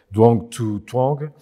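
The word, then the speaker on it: Dương Thu Hương: ce roman de l'auteur, que je veux dire avec la prononciation française, Duong Thu Thuong, qui est une auteure femme vietnamienne, qui est en France.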